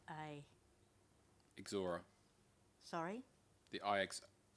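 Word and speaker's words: Ixora: one of the names iix o r a exora sorry the o r a exora exora thank you any other questions Council Sergeant thank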